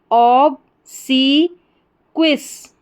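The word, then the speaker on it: obsequious: फिर से देखें, OB को ऑब करके पढ़ेंगे, SE को C, ऑब सी, QUI क्वी, और अस लास्ट में OUS को अस। तो पूरी स्पेलिंग हमारी क्या बन गई? ऑब सी क्विस, ऑब सी क्विस, इस तरीके से, ऑब्सिक्विस, ऑब्सिक्विस।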